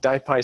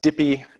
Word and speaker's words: DIPY: of a tortured acronym die PI stands for diffusion imaging in Python often mispronounced dippy it is die pi so type I is